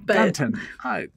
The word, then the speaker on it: Gunton: Gunton. Yeah, thank you. Just an unnecessary syllable on that.